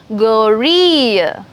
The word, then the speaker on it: gorille: Now, if you have G alphabet with the hard vowels A, O, U, then you have the hard sound G sound. G. From this, you have the guttural sound. Okay? It comes from here. For example, gorille, gomme, guitar, catalogue, regarde.